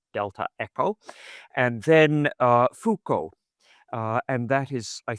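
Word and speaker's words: Foucauld: dur something so he's char c dur which is spelled d e delta echo And then uh fukco uh and that is I think rather easy.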